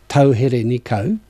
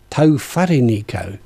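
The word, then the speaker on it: Tauherenikau: maori course recently and i've always tried to pronounce tauhereniko the way it looks and mike kawada our tutor said actually it's been written incorrectly it's tofariniko to it's like the ramataka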